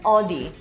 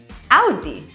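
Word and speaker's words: Audi: And this isn't "o-dee". Instead, say it like someone's pinching you - "Aw-dee"!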